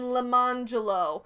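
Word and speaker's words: Lemonjello: and lemon jello which their silly parents pronounced around Jello and lamangelo they give this as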